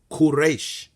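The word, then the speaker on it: כורש: if we go into the Hebrew it is pronounced quresh okay so there was really no need to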